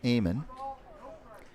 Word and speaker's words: Amon: Pronounce it Amon.